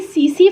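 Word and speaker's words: tsetse: तो ये किस वजह से फैलता है, ये जो स्लीपिंग सिकनेस है ये सीसी फ्लाई होती है, एक टीएसई टी साइलेंट है, सीसी फ्लाई बोलते हैं इसको, इस फ्लाई के वजह से होती है।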